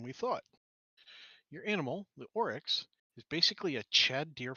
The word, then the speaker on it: oryx: just looking for the way to how to pronounce this thing I believe it's oryx you got it right okay good in that